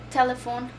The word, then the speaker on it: telephone: What's your telephone number? Acuérdense que la E al final no tiene sonido en el inglés, okay?